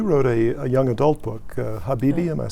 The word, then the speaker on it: Habibi: - And you wrote a young adult book, Habibi, am I saying it correctly?